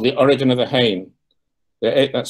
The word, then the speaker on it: Hain: This is from Tierra del Fuego, and it's called The Origin of the Hain. That's spelled H-A-I-N.